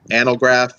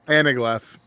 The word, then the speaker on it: anaglyph: Of course, the old, what is it, Analgraph? Is that how you say it? Anaglyph.